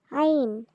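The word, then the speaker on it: ع: আইন। হ্যাঁ বন্ধুরা, হলকের মধ্যখান হতে এটার উচ্চারণ হবে।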